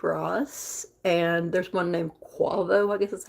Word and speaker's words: Quavo: one is rick ross and there's one named quavo i guess that's how you pronounce it q-u-a-v-o i had not heard of